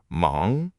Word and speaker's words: 忙: The third word is mang, mang, one syllable. Mang means busy.